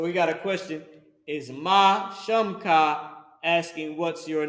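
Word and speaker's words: מה: So you got Ma, which is M, which would be in English M-A-H, but in Hebrew is Ma, and then there's Ha, connected. And it's pronounced Ma, and it equals how or what.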